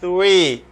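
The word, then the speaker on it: three: C'est pas F, c'est pas fouille. C'est pas T, c'est pas tui. Ou bien tui. C'est 3. Langue entre les deux.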